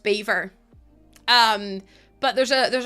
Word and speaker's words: Belvoir: Beaver. No, no, no, no, no. You You did hear that, right? Beaver. I don't get it. No, no, no. Beaver as in like the animals.